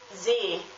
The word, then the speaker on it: See: It's spelled S-double-E, and the E has a long pronunciation because there is a double E.